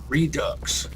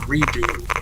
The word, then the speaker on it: redux: Oh, and I found out that the word redux might actually be pronounced redux. And here all this time I thought it was a faux French word, pronounced redo, and just had an X to look fancy.